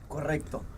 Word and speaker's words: correcto: Correcto. Correcto. Put an extra O there. And a little rolling of the R's.